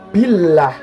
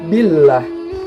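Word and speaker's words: بالله: bacaan dulu perfect ya karena ada lafadz Allah yang didahului oleh huruf kasrah jadi membacanya itu tipis Billah listrik Billah lalu selanjutnya ada penggalan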